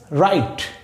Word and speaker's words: write: এখন দেখেন রাইট শব্দটার বানান কিন্তু এই পর্যন্তই হয়ে গেছে, RITE, রাইট। তাহলে ডব্লিউ কোথায় গেল? ডব্লিউ আছে কিন্তু ডব্লিউর উচ্চারণ হয়নি।